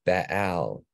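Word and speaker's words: בעל: This is with a double pathak. So Baal is how that would be pronounced, and it means Lord or owner.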